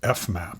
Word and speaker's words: fmap: Class functor of k is how I read it, where, and then this is pronounced fmap.